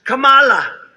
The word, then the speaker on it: Kamala: tried to interrupt him no my name was kamala like comma i remember that like